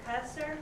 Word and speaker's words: Cusser: Do you pronounce it Cusser? Yes.